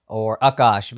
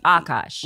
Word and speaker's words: Akaash: If you're Indian and you mispronounce it, like if you say Akaash, it's like you know better. It's Akaash. There's like a strong K with it. The accent. But it hangs on the A, right? So it's Akaash.